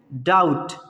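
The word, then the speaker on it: doubt: इसको बोलते हैं डाउट। क्या बोलते हैं इसको? डाउट। क्यों भाई? क्योंकि बी यहाँ पे साइलेंट होता है, बी को प्रोनाउंस नहीं करना है, ठीक है।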